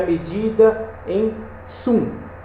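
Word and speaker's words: cun: Esse C-U-N, esse Kun, ele é a pronúncia, ele é escrita dessa forma, mas a pronúncia dele é Tsum.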